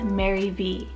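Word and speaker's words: Marivi: maddy v spell m-a-r-i-v-i maddy v and in english you can pronounce it says mary v and this one's a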